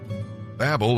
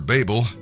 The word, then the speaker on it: Babel: person's name truly great Babel or Babel people do pronounce it different ways means confusion and God